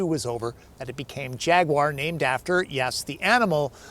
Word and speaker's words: Jaguar: No, I'm not using the proper British pronunciation, Jaguar.